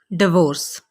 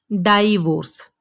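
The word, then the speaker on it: divorce: अक्सर लोग इस लफ्ज़ को बोलते हैं डाइवोर्स। डाइवोर्स नहीं होता, असल में इस लफ्ज़ की प्रोनाउंसिएशन है डिवोर्स। डिवोर्स, ठीक है। आइंदा आपने इस लफ्ज़ को डाइवोर्स नहीं कहना बल्कि आपने बोलना है डिवोर्स।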